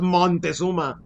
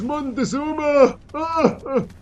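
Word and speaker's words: Moctezuma: Mockuma with a C, not Montesuma.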